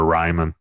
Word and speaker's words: Reiman: Yeah, I always tell people, too, when, you know, just on their notes and stuff, just spell it R-Y-M-A-N. That'll make you remember Reiman.